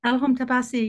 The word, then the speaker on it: Elham Tabassi: This is Elham Tabassi. Is that correct pronunciation? Elham Tabassi, yes, very good, thank you.